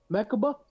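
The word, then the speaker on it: Mechikabura: Mechaba?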